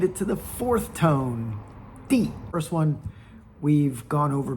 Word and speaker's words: 地: We've made it to the fourth tone, D.